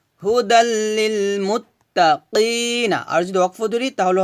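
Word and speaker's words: هُدًى لِّلْمُتَّقِينَ: কফ ইয়াজের কি, কি, কফটা মোটা করে উচ্চারণ করতে হবে, কি, এভাবে। নুন যেমন না, কি না, হুদাল লিল মুত্তাকিনা।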